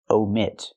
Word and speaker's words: omit: wants to say omit use a long o like no and go omit Americans like to Omit